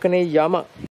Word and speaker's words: Yama: board this is spelled as spokane jama though pronunciation is with a wife yama this is another view of yama this human